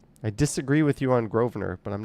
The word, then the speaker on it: Grosvenor: It's Grosvenor.